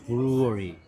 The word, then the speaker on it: Bruery: 어 유명한데 여기 보면 이게 양조장 발음은 비슷한데 스페리 양조장 아니에요. 여기 보면 R라고 돼 있는데 이거 이제 부인 성이 루예요. 그래서 브루어리 이렇게 만든 건데 어쨌든 뭐 처음